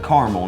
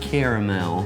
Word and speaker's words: caramel: are accepted okay yeah but caramel is said like caramel not caramel actually both of those are okay to say too this is all